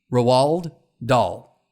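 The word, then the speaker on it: Roald Dahl: British writer roal r o a l d rowald doll right okay is that how you would pronounce it great so he's a he's an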